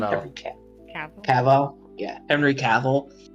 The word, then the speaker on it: Cavill: well it's the same thing with like henry calvin i think that's how he's you say his name okay yeah henry cavill like people were they recently he was he